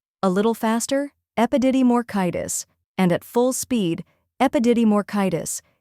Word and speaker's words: epididymoorchitis: Epididymoorchitis. Now repeat after me. Epididymoorchitis. A little faster, epididymoorchitis.